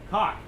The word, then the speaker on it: caulk: I think the L is silent.